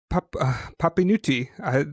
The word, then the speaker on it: Papinutti: Today I'm with uh, Papinutti. Did I say it wrong this time? The first time I said it correct. Is this right? Yes, it's fine. It's right.